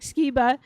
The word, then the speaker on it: Sciba: So Derek Skea who is the CEO of Vision House and